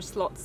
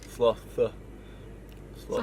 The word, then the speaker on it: sloth: are saying there are slots there what are they called slots slots what do i say a slot is like a like a poker machine sloth how do you say it sloth can you say it